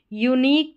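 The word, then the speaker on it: unique: Number 19 पर है you silent, Q यू ई के कॉम्बिनेशन में, क्यू यू ई के कॉम्बिनेशन में, क्यू यू ई, यहाँ पर भी, यहाँ पर भी, और यू साइलेंट है। यूनिक, टेक्निक और एंटीक, इस तरीके से।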